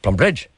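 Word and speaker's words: Plumbridge: Now, see, the accent, you can't wait to get to the bridge. So the plum is very quick. Plum Bridge.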